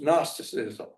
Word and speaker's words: Gnosticism: And they both tied to our topic today, which is nasticism, spelled with a G.